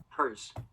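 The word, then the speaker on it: Herr's: all right, against the 8th seed Hers, or Hairs. I'm going to say Hers. Let's see how to pronounce it real quick. Hers.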